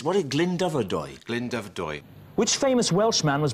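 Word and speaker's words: Glyndyfrdwy: It's what is Glyndebrydwy? Glyndebrydwy. Which famous Welshman was born at Glyndebrydwy? No, wrong. I think it's Glyndebrydwy. Glyndebrydwy. I think the R is silent. Dubrydwy, right. So it's Glyndebrydwy. But I've said it wrong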